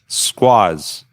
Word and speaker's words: Skwoz: Skwoz.